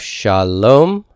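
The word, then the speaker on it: שלום: and I'm done here I have Shalom Shalom consonant vowel this consonant has its own vowel so I can divide these this is two separate syllables sha lo sha lo there's also a member Shalom that's a closing consonant this one is an open syllable there's no consonant to close it because the alignment goes with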